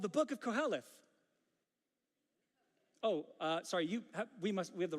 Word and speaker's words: Kohelet: It's called the Book of Koheleth. sorry, we have the wrong translation. This is actually the Greek word. The Latin word is in your Bible. Sorry, it's the book of Ecclesiastes. See, but Koheleth is actually the translation of Ecclesiastes, and it's